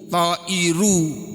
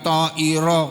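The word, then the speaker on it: طائر: subjek, maka karena dia mubtada bunyinya harus bunyi u, ta'iru, bukan ta'iro. Kalau di sini sebagai sebagai objek, maka bunyinya ta'iro.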